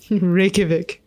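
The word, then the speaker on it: Reykjavík: I pronounce this again rikic rikic rikic rikic Rik the J is like a y I see that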